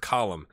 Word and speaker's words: Colm: patron on the channel, Colm O'Neill. Thank you for joining. He gave me pronunciation help, so he said it was like Gollum, but with a C, so we're going to go with Colm.